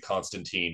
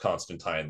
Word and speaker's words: Constantine: do actually pronounce it Constantine in that movie it is it's technically pronounced Constantine like wine yeah but the movies they do say Constantine 90 times in that